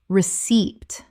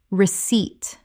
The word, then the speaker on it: receipt: salmon salmon Word 186 receipt common mispronunciation receipt correct pronunciation receipt The p is completely silent. Two syllables with the stress on the second.